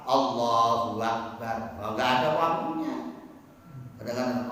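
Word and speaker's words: الله أكبر: Tulisannya Allah ada tasdidnya Allahu Akbar. Jangan sampai salah-salah. Allahu Akbar.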